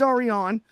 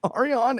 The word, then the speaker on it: Ariane: I know it's Aron and I keep reading it phonetically like it's hooked on phonics and it's my fault and I apologize, but it's Aron.